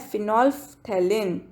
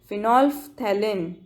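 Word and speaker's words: phenolphthalein: जो केमिकली बनाया जाता है, उसका एग्जाम्पल है फिनोल्फ्थैलिन. Again I am repeating, listen the pronunciation properly. फिनोल्फ्थैलिन synthetic indicator है.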